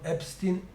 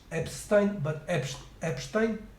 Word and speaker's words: Epstein: familiar with Epstein scandal, so not Epstein, but Epstein. So this is how it's this is how it should be properly pronounced, as otherwise it would be Eastin instead of Einstein, and I think I